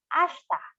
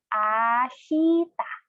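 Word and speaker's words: あした: For tomorrow, we have ashta. Again, tomorrow, ashta. One time, slowly, per syllable, it's ashita. Now, although it is spelled as ashita, there's a silent E or I.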